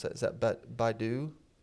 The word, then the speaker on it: Baidu: Tesla also reportedly scored a deal with, I've never known how to pronounce that. Is that Baidu? Baidu, yeah. Baidu, yeah.